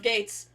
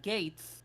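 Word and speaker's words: Geiz: his name was spelled the official spelling is g-e-i-z and his Kamen writer name was Gates as in a gate see I would have accepted that and you can pronounce them the same but the official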